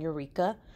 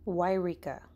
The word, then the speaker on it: Yreka: I was saying Eureka, but apparently that's not how you say it. So, this is how you say it. Yreka. Okay. It is spelled Y-R-E-K-A.